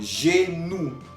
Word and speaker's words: genou: Tenemos otro ejemplo, genou. Genou, que significa rodilla, la rodilla. Al final estamos oyendo OU. OU, que quedamos que se pronunciaba U.